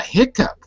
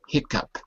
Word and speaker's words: hiccup: Yeah, hiccup. Good. And it can also be spelled like this. It's the same pronunciation, but it has 2 different spellings.